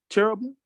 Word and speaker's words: cherubim: So is King Solomon off for making the cherubim?